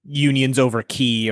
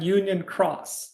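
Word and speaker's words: Union χ: could get a fucking Union Key sequel 358 Unions over Key or whatever the fuck he wants to call it. Unions over Key. Excuse you. It's Unchained Key and then Union Cross.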